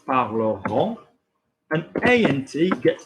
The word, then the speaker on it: parleront: Because ONT get pronounced. Yeah? Ils ont, or the future tense, parleront.